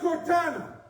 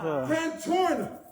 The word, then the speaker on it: Cantorna: him, when the DA, Cortana, always mispronounce his name, say his name right for me, y'all. Cantorna. I distort his name like he distort the facts.